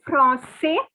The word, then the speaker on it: français: So for boys it is je suis français. The S is not to be pronounced. But for girls, since there is an extra E, the S is to be pronounced.